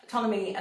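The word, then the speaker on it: Ptolemy: if you're interested Tommy he has annoyingly a silent P at the beginning of his name tmy an Egyptian um Atlas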